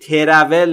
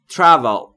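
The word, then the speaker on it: travel: تول یعنی سفر کردن تلفظش رو دقت بکنید ترول نیست تول به این دلیل که بین تی و r شما صدایی رو مشاهده نمی فرمایید و ما هم مجاز نیستیم صدایی رو اضافه بکنیم تول یعنی سفر کردن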